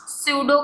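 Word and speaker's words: pseudo: स्यूडो का P silent होता है, निमोनिया में भी पी साइलेंट होता है, तो आपको कंफ्यूज नहीं होना है कि ये क्या बोल दिया।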